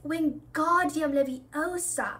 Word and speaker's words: Wingardium Leviosa: "You're saying it wrong," Harry heard Hermione snap. "It's Wingardium Leviosa. Make the gar nice and long."